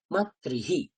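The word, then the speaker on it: মাতৃঃ: তাহলে কি হবে, যখন রিকারের পরে বিসর্গ আসবে তখন আমরা তার স্থানে হি উচ্চারণ করব। মনে রাখবেন, রিকারের পরে যখন বিসর্গ আসছে তখন তার উচ্চারণ হয় হি, তাই জন্যে মাতৃ ছিল, হি হয়ে গেল মাতৃহি, পিতৃহি, ভ্রাতৃহি, এইভাবে উচ্চারণ হয়।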